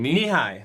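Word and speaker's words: Nehi: it before how do you say that name knee high knee high okay yeah knee high doesn't say or something like that okay it sounds like japanese to me you know it corn growing knee high by the fourth of july oh yeah i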